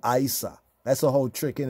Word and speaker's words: Isa: get the names wrong Isa Isa Isa when you say it correctly it sound like Esau right but this is one